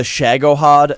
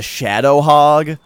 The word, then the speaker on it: Shagohod: He was playing Metal Gear Solid 3, and kept calling the Shagohod the Shadow Hog.